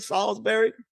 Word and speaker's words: Salisbury: Sal, that's how you say it, Will. Solberry. Salsbury. Salsbury.